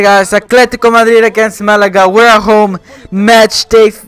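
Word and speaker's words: Málaga: more Malaga right but I want to say molar no man is it's Malaga somehow can't pronounce names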